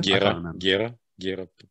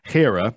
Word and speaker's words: Hera: Gera. No, what are you talking about? Чего? First of all, Hera is how you pronounce it.